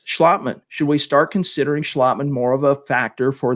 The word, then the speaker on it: Schlottman: was austin schlottman and it is schlottman we've been mispronouncing it on this show calling him schlotman it's actually schlotman but nevertheless he was